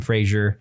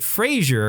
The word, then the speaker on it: Brendan Fraser: Also happy to see Brendan Fraser. Yeah. Although they pronounce it Brendan Fraser. I've always heard it Fraser.